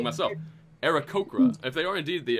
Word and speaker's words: Aarakocra: Aarakocra, right? I'm saying it wrong myself. Aarakocra.